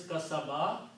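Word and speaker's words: كسب: So that's what wama kasaba, the word is kasaba, which is the same thing here. When you stop, you say kasab. Sound this like a sukoon there. Ma kasab. Only 1 time ba here.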